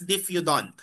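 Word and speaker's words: diphyodont: It is pronounced as diffudant.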